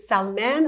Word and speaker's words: Salman: And is it Salman? I think I pronounced it incorrectly. So the Salman or Arab, Salman? the correct is Salman, but Salman. everybody calls me Samira Salman. Okay. That's what I even say. Okay. But yeah, if you're going to pronounce it, like my dad says Salman, but everybody else says Salman, right? Okay. Yeah. All right. They all work though.